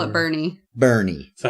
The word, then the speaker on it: Boerne: But No, how's it it's spelled? not. How's it spelled, Luke? It's not Bernie. How's it spelled? Boerne. Wait, But say we say again. Bernie. Boerne.